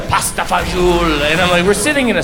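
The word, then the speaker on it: pasta e fagioli: will show off by pronouncing menu items authentically he'll be like all of the pasta fazool anyway we're sitting in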